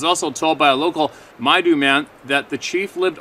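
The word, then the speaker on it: Maidu: Dear Steve, I just listened to a story from the Maydew, pronounced Maydew, man from Oroville, California.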